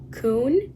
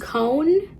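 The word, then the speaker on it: Koen: looked it up, and apparently the correct pronunciation is Coon, but there are other pronunciations, Cone or Cohen, which I would have thought it's Cohen.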